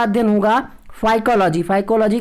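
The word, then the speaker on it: Phycology: फाइकोलॉजी की spelling ध्यान से देखिएगा, जैसे आप साइकोलॉजी पढ़ते हैं उसी तरीके से यहाँ पे पी साइलेंट रहता है, PHY, ध्यान रखिएगा।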